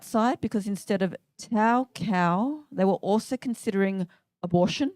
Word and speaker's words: Cau: my name's Tao Tao cow so my first name rhymes with my surname and my surname sounds like a farm animal so thank you Mum